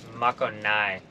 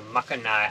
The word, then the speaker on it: Makogai: from I found out the real way to pronounce the name of this island it's Mako Nai I read it I had saved some information and then it gave the pronunciation so makanai Island hopefully I'll say it right from here